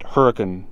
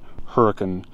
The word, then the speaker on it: Hurricane: 15 minutes from hurricane although they pronounced at Huracan if you're local you need to pronounce it hurricane or you're not a local and we just got